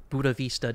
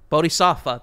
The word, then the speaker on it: Bodhisattva: Both Stan and the Matthew Pegas arc, quote-unquote, both end in a lotus position Buddha Vista death. Bodhisattva. A different enlightenment. You got Bodhisattva, thank you.